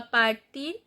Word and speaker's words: partir: Partir, you know the r is the exception letter, so when we find r as a final consonant we pronounce. So partir.